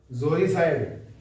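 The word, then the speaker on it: uxoricide: करेंगे next word है जोरिसाइड यू एस ओ आर आई सी आई डी जोरिसाइड अब ये यू से शुरू है लेकिन बोलेंगे सर जोरी यू क्या होता है साइलेंट होता है ठीक है ये जो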